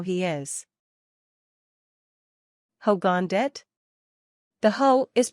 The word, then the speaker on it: dit: Finally, the word dit, which means it in English. Dit is pronounced like the first syllable in the urban word ditto, so it's dit, too, but only the first part.